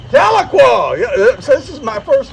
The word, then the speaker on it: Tahlequah: Your uh community of uh Tel, how do you pronounce it? Taloqua. Taloqua.